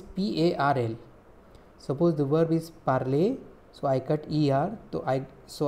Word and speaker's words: parler: Parler means to speak. P-A-R-L-E-R. E-R is pronounced like A.